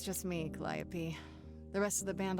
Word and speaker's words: Calliope: preach it or something so that's how it's pronounced I thought it was like cantaloupe I don't blame you